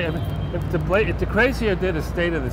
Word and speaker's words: de Blasio: Well, it's pronounced DeCrazio, by the way, not DeBlasio, but yeah.